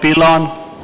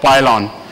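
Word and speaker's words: pilon: it we call it pylon we call it pylon better call it pylon because if you don't take good care of your patient this fracture can really pile on you if you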